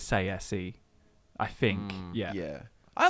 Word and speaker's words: Tsaeci: And is that 100% confirmed how to pronounce it? Because I've heard people say Tsaeci, I've heard Tsaeci. I always said Tsaeci, but I'm fairly sure ESO confirmed it as Tsaeci.